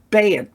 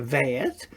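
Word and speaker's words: bet: And remembering that the bayet here is a bayet because it has a dot. Without the dot it'd be a vayet.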